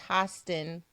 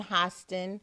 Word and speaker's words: Hostin: and it's pronounced pronounced hostin like oh like hostile the i sound got to look out for our fearlessly come on hostin hostin not host and host